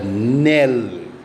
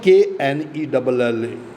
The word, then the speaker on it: knell: Evening bell of the church tolls, rings the knell. It is not Knell, canal. It is knell. K is silent.